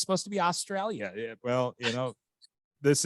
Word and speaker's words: Australia: you think of it spell s-t-r-a-y l-i-a-a-l-i-australia that's how we say over here no one pronounces the I you it's Australia have you ever hanging